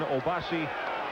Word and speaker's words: Obasi: The correct pronunciation, Obasi Onaha.